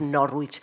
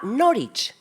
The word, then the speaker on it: Norwich: la visión de Juliana Norwich. Me han dicho últimamente un colega mío de inglés de aquí, de esta facultad, me dijo, ay, por Dios, Victoria, no digas Norwich, se llama Norwich.